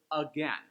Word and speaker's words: again: Let's look at that word 'again'; notice how the stress goes aGAIN? I don't stay on the 'A' very much.